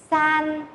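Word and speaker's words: 三: Số 2 đọc là R, R, R. Số 3, san, san, san.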